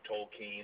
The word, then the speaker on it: Tolkien: well that's how that's how Douglas gram right pronounced is uh the name tol keen and I think that's Prett good source yeah